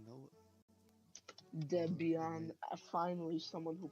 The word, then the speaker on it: Debian: the Stream Mario is turning Debian right now dead Beyond finally someone who pronounces it right finally a worthy opponent Rory